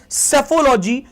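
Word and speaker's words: psephology: आपकी स्टडी कहलाती है सेफोलॉजी इसकी स्पेलिंग आपकी पी से स्टार्ट होती है जैसे आपकी साइकोलॉजी में पी तो पी आपका साइलेंट होता है यहां पर तो आप इसको पढ़ते हैं सेफोलॉजी पी एस ई पी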